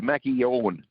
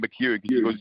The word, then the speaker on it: McKeown: Like, it sounds like there's a Q in there. It's Mackie Owen. So it's like a K, and she's warned me twice, and her dad warned me as well not to mispronounce it. So make sure we don't call it McKeown.